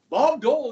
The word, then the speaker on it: Bob Dole: he from ma OB you guys say it like one word it's two words but you say it like Bob do okay Bob Dole Is from Russell Kansas